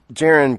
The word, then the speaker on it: Jaron: It's Jaron, by the way. The Redskins sent their pronunciation guide out. It's to us the other week. It's Jaron.